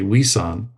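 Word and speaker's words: 위산: he becomes known as his teaching name is gueshan we in our Korean pronunciation we say wesan is considered the founder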